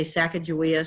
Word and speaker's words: Sacagawea: that his wife was there's different pronunciations some say Sacagawea some say Chicago yeah but Sacagawea was probably the most